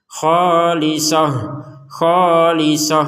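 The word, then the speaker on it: خالصة: Nah, misalkan kita membacanya berhentinya di sini, maka ini akan dibaca sebagai huruf H untuk taknya. Khalisoh.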